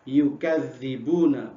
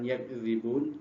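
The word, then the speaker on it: يُكَذِّبُونَ: Bit tasydidi, ada yang dibaca dengan tasydid, dengan cara bagaimana dibacanya? Yukadzibuna, bukan yakdzibun, tapi yukadzibuna. Jadi ada yang bacanya dengan tasydid, dengan dibaca bima kanu yukadzibun. Mereka mendustakan siapa?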